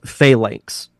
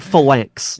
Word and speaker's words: phalanx: Oh, Rampage says it's pronounced phalanx. I'm not gonna say that. I like phalanx.